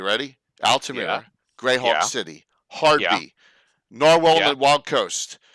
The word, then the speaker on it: Hardby: Hardby instead of Hard Bay. Yeah. Hard Bay is the original pronunciation of it, and then they got rid of the A. It got slurred into Hardby.